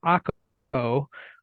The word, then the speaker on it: Akko: We ate hummus in a town called Akko, which Americanized, it's spelled acre, A-C-R-E.